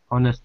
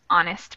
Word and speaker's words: honest: change a to an honest man and that's just because even though the word is starting with an h the first actual pronunciation syllable is a vowel so we need to